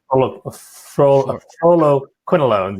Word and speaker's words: fluoroquinolones: Fluoroquinolones, yes.